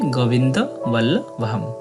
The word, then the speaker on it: গোবিন্দ বল্লভম: মন্ত্র প্রণব ওম এরপর গোবিন্দ বল্লভম একদম সঠিক বাংলা উচ্চারণের মত তবে শেষে অনুস্বর আছে যেটার সঠিক শুদ্ধ উচ্চারণ হবে অর্ধেক ম তাই হবে গোবিন্দ বল্লভম এরপর আছে দেবীম শেষে